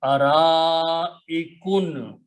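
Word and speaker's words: أرائك: Because there is a hamza here in this word, a letter before hamza, if it is alif, then that alif should be pronounced according to the rule of tajweed with a long mad.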